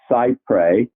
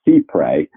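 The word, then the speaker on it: cy-près: distinction in our law people use the word sight pray but actually that's a French term that should be pronounced sea pray but no one doesn't so thank you and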